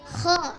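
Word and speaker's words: خ: Nah, jadi ini pengucapan ya anak kita Sawal, alhamdulillah ya sudah benar pengucapannya bahwa huruf kho dalam hijaiyah harus dikeluarkan ya kayak berserat ya, di ujung lidah, di ujung tenggorokan kayak berserat.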